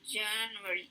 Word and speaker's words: January: En la primera sílaba, January.